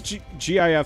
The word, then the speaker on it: GIF: to this one like people pronouncing gif wrong with a g instead of a j like it's supposed to